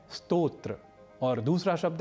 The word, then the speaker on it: स्तोत्र: ही अर्थों को जानेंगे उस समय स्तोत्र का उच्चारण श्रोत नहीं करेंगे और श्रोत का उच्चारण स्तोत्र या नहीं करेंगे इसी प्रकार एक और